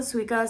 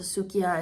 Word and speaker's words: Suica: Some people pronounce it Suica, some people pronounce it Sukiya, it doesn't really matter.